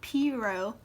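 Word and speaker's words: pirogue: swampy areas traditionally and i know that does not sound like piro but that's how you say it q is for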